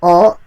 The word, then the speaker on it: を: The particle o is often said as o without the w, but when you're writing it out, it has a special character representing wo.